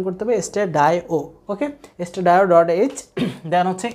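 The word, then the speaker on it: stdio: চাই, তাহলে hash include স্টেডায়ো ডট এইচ, এটা অনেক সময় অনেকে বলে স্টেডিও, যদি এটা খুব ভুল, কারণ স্টেডিও আমি প্রথম দিন আমি বিস্তারিত বলছিলাম, স্টেডিও মানে standard, I for input, O for output, তার মানে আমার এটা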